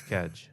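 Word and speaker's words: kedge: it up no it's a real word it's cage okay spell it k-e-d-g-e I don't even know what that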